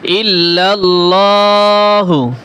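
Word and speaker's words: إلا الله: ইল্লাল্লাহু ইল্লাল্লাহু এখানে লাম মোটা করে পড়তে হবে ইল্লাল্লাহু ওয়াহদাহু বড় হা ওয়াহদাহু ওয়াহদাহু লা শারিকালাহু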